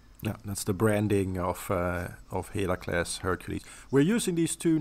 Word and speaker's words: Heracles: So Heracles is the Greek name, Heracles, as we would say it in modern Greek. And Hercules is the Latin pronunciation of that.